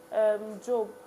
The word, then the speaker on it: Job: In place of Job, right? That's how it's pronounced.